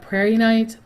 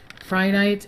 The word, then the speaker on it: Prehnite: Some people call it Prehnite. I call it with like an I. Prehnite.